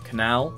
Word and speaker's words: canal: well this is difficult canal instance Island workshop yeah they're all the same that's in a British English accent anyway canal second syllable no all hang on